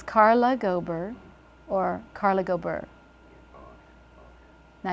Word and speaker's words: Carla Gober: First, Carla Gober, it has a more rolling sound, Carla Gober. So you're not stopped in the middle.